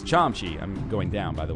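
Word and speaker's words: 참치: you give me a tuna kimbap tuna's uh pronounced chomchi but I was like the first week in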